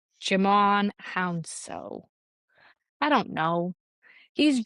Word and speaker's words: Djimon: It's spelled Djimon. So I'm gonna say it's a just sound. Jimon Hounsou.